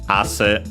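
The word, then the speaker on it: あせ: so to perspire, sweat, ase, accent on the first syllable, means sweat, and yeah, that's why.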